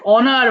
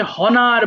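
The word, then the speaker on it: honour: এবার দেখ অনার মানে সম্মান করা। একটু আগে বলেছি না একটা লেটার এইযে এইচ এর উচ্চারণটা এখানে হবে না। সো এটাকে হনার বলে ফেলা যাবে না।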